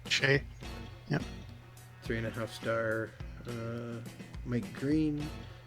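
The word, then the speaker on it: Skjei: No, how do you say that name? This is from FHM3 too. Shea. Brady Shea. Shea.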